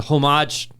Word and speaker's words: homage: does is it's a homage. Is that right? Homage. I think it's probably homage. I think the H is silent, but we'll take it.